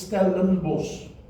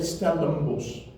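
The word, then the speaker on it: Stellenbosch: the in Stalin BOS now when you say it in afans it is Stalin BOS and when you listen to people speaking in stellin BOS they won't say in normal spoken language they won't say Stalin BOS because they will say Stalin BOS the in becomes an IM naturally because it's just an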